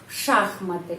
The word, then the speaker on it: шахматы: Шахматы. Bukan V шахматы. Tetapi F шахматы.